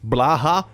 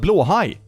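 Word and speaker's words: Blåhaj: about blue high they always pronounce it so weird Blaha that's not a word that's not blue high blue high means blue shark blue high God learn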